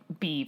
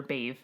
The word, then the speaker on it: Badb: Badb, B-A-D-B. Probably Beeve or Bave. Bave? Because B-H is V.